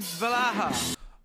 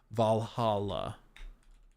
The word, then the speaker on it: Valhalla: better than the Assassin's Creed valaha Assassin's Creed valaha skill Bush uh Val I have to not spell it like valaha Valhalla skill tree cuz this skill tree was such